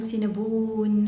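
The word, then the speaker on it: Cinnabon: سينابون مش بنمط يعني، مش بنقول سينابون، اوكي؟ هو اسمه سينابون، اوكي؟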